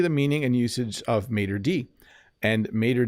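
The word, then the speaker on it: maître d': say Mater Matra dotel we don't say that in English we just say Mater D and I apologize to all my French viewers that's how we pronounce it we say Mater D and if there were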